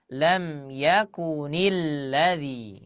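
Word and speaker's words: لَمْ يَكُنِ الَّذِينَ: Nah, tetapi karena di sana muncul yang namanya nun wiqayah, maka diucapkan lam yakunil ladzi ya.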